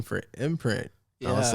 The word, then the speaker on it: M.Print: like wait a second i could just spin it to where i can still say imprint but it's spelt different yeah so i mean